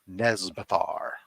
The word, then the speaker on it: Nezbelthar: So, ladies and gentlemen, our guest, Nezbelthar. Am I pronouncing that right? Yes.